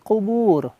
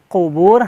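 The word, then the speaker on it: قبور: Qubur, hati-hati kita menjadi kubur ya. Fil qubur. Nah, di endingnya roknya di sini roknya menjadi tafhim, tebal. Kubur, ro, kubur, jangan kubur. Nah, salah ya, keliru.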